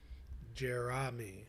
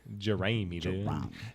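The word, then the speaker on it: Jeramey: spelled like this jery it's it's j e r a m e y jerami jerami jery but uh I don't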